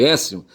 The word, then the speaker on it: Aécio: Porque Écio se escreve Aécio, tá certo?